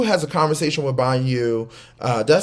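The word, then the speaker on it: Bhanu: Banu Banu Banu Banu like like a goat ba new like you just bought new car new by new by new there you go you got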